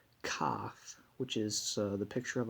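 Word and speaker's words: כ: we have the letter cough which is the picture of a palm now this dot means that we pronounce it with a as in kite and without the dot it's uh it's a ch and this is uh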